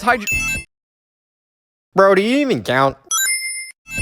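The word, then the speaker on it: Hydrocity: Everyone knows it's pronounced Hydro. I did read in a post once that Yuji Naka stated that he thinks it's Hydro City, but I can't find the post anymore, so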